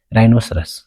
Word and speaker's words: rhinoceros: 3 ሕጊ ሰለስተ ከዓ if a word starts with rh the h is silent በrh ዝጅምር ቃል እንድሕን ኮይኑ h silent እዩ ወይ ድማ ኣይንበብን ይለናል rh ዝጅምር ነው ንኣብነት ይንብል rhinoceros rhinoceros ኣይኮንና ንብል ራይሰን